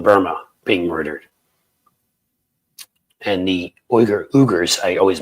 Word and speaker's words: Uyghurs: Uyghurs, thank you, Captain Turk. I knew I was pronouncing it wrong.